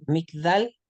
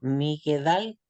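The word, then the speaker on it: מגדל: ¿Por qué se pronuncia migdal y no migedal? Porque el el va debajo de la guimel está en medio de dos vocales.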